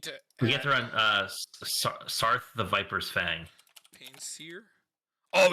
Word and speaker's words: Saryth: Also, how do you spell that? It's like EA. It's SARYTH. That's the thing I always miss. Yeah, it's the Y that's in there.